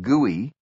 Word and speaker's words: GUI: This graphical user interface, or GUI, pronounced GUI, was facilitated by another concept pioneered at Xerox Park, bitmapping.